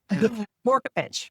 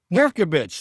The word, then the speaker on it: Vorkapic: Her name is Vorkapic, or in New Orleans, we would actually pronounce it properly. It's Vorkapic. Am I saying, or am I butchering that? Vorkapic. Vorkapic.